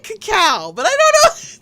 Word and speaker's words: cacao: Creme de caco. Caco. No. X, you're not helping. No, you're not. Cacao? Oh boy. Okay. Cacao. Kim said, thank you. Cacao. I said it right.